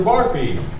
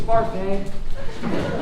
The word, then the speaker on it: Barfée: Mr. Barfy. It's Barfay.